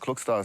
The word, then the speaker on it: Klokstad: Island and Moldi and my last name is Norwegian and speaking to a few cousins um it's pronounced Cookstar.